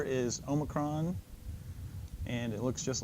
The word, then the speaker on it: Omicron: a lot of debate I pronounce it as a short o Omicron there's going to be